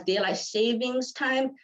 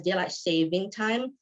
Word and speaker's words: Daylight Saving Time: lot longer fun fact most people pronounce it as daylight savings time but it's not actually correct it's pronounced as daylight saving time um saving time because